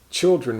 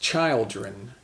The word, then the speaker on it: children: dren so child and you might think children might be pronounced child Rijn but it's not it's children children so child and children